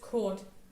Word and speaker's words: Kurt: I pronounced it Kurt because I assume he's German, and the German pronunciation is just Kurt.